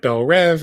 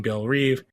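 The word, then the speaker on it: Belle Reve: So Lex is at Belle Rev, although they keep saying Belle Reeve. I will try not to pronounce it that way.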